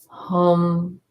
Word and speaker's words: Hum: Hum, H-U-M for the throat.